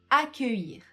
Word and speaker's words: accueillir: Donc attention à ne pas essayer de lire le mot puisque l'écriture de ce verbe est très différente de sa prononciation. Donc juste écoutez-moi et essayez de répéter.